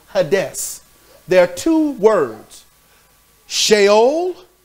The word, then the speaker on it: Hades: In the Greek, it's Hades, where people say Hades. It's pronounced Hades.